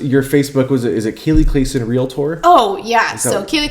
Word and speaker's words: Kali Klassen: lincoln and omaha agents you pronounce my name kaylee clayson not callie clawson um instagram kaylee clayson